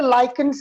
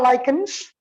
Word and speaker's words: lichens: And some people say lichens as well. Both of them are correct. Both pronunciations are correct. What are lichens or lichens?